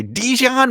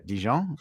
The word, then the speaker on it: Dijon: is Dion so uh as our Americans say Dijon mustard but uh djon uh yeah they are